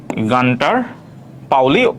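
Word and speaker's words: Gunter Pauli: answer হচ্ছে গানটার পাওলি কেউ কেউ উচ্চারণ করে গুন্টার পাওলি সমস্যা নাই এজন্য ইংরেজি বানানটা দিছি আমরা বাঙালি অনেকেই এটাকে গুন্টার বলি বাট এটার প্রোনাউন্সিয়েশন অনেকেই গানটার পাওলি বলে অনেকে গুন্টার পাওলিও বলে ঠিক আছে তো ব্লু ইকোনমি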